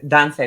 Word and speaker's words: Dante: Thank you, Kenya and Dante. Why do I always want to say Duante? It's the way it's spelled.